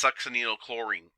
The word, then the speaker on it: succinylcholine: And that is the key thing about succinylcholine. So the other names are nectine or quelchin. Nectine is the one that you're probably going to see a lot more of. And it is pronounced succinylchlorine.